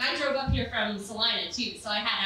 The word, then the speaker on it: Salina: I want you to know that I have mispronounced that city's name for 27 years. I literally had someone in college, you're like, are you sure it's not Selena? I'm like, bitch, I grew up there.